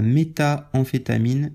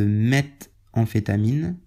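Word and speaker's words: méthamphétamine: de prononciation cette fois-ci donc la métaamphétamine n'existe pas on parle de M amphétamine mamphétamine mais la métaamphétamine ça n'existe pas voilà je je dis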